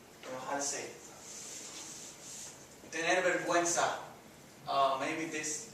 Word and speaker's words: enojar: Go back to, instead of enollarse, sometimes you get confused or whatnot. It's enojar, sounds like an H. Enojar, se. And then the se again, right? Enojar se.